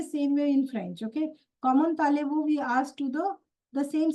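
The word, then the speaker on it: comment allez-vous: Common talevu. Common alevu. No, common talevu, tale. Okay. Common talevu.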